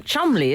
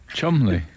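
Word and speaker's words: Cholmondeley: like Chumley, isn't it? Chumley. Yeah, which is spelt Chomley.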